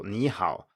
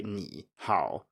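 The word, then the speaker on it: 你好: an example would be two third tones in a row so knee how you have to go up on the first syllable you cannot say ni how or you can but nobody else does so it would be considered wrong the second type of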